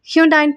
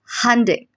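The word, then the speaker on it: Hyundai: First one, இதை எத்தனை பேர் ஹியூண்டாயின் ப்ரொனவுன்ஸ் பண்ணிட்டு இருக்கீங்க? This is ஹண்டே.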